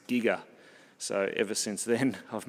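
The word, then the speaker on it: Giger: I used to say Geiger and she enlightened me that it was actually pronounced Giga so ever since then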